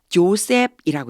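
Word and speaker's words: Joseph: 사람 거기 지역의 요셉 조셉이라고 읽어 줘야 돼요 우리는 요셉이라고 하죠 제의 발음이 나기 때문에 영어로는 조셉이라고 읽으시면 돼 아리마 사람 요셉을 이렇게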